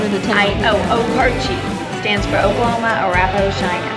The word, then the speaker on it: Okarche: So how do you pronounce the name of the town? Okarche. Stands for Oklahoma, Arapahoe, Cheyenne. Okarche.